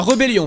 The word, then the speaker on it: rébellion: La rébellion. Pourquoi tu fais semblant de pas voir l'accent aigu là ? Bah je sais pas. Rébellion. La rébellion du coup.